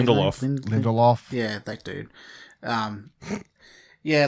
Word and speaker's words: Lindelof: series that came to HBO, written by Damon Lindelof.